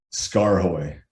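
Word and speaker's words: SKAARHOJ: i the sh the the how do you pronounce that s-k-a-a-r-j h-o-j scar-hoy scar-hoy but so so you do integrate with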